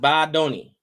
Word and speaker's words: Badoni: It's pronounced Badoni.